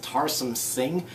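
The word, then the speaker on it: Tarsem Singh: And the movie was directed by, I believe it's pronounced Tarsum Singh.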